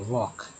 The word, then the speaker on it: walk: और यहाँ पर वॉक पढ़ा गया है, वॉक, जो कि एल यहाँ साइलेंट है।